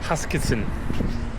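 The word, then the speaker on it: Huskisson: Hakansen. Hakasen. Made it Huskinson Beach is apparently how you pronounce it.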